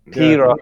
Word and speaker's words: pyros: Pyros, remember, man. That's the correct Greek pronunciation.